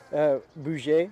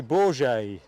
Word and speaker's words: Bourget: Bouget, I think you pronounce it. I think Rab coached me to say Bourget.